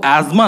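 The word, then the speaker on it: asthma: और कई बार तो सही प्रोनाउंसिएशन सही लगती भी नहीं है, जैसे मेरी नानी को अस्थमा है, उनको एज्मा नहीं है, ठीक है, उनको एज्मा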